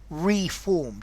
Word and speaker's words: reform: But notice, to reform is not the same as to reform with a schwa sound. Reform. To reform, stress on the first letter. Reform, stress on the second letter.